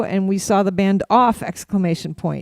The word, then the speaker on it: OFF!: No, you just say off. I don't think you. We saw the band Off. We saw them Off. I don't think the exclamation point is.